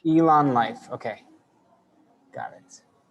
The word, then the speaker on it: Elan Lyft: And just so I pronounce it right, the company name is just It's Elan Life. Elan Life.